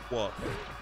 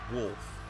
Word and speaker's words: wolf: But when people say wolf, but they say woof. Like it's not a woof, it's a wolf. An L.